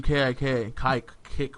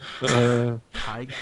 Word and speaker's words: Kick: talking through Kick, whatever the fuck that thing's Whoa, easy with that first pronunciation. Kike. It is not pronounced that way. It is certainly pronounced kick.